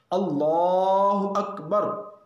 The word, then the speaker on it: اللہ اکبر: اس لیے اس کلمے کے تلفظ کا لحاظ بہت ضروری ہے۔ اللہ اکبر، اللہ اکبر، نہ الف لفظ اللہ کے الف کو لمبا کرنا ہے، نہ لفظ اکبر کے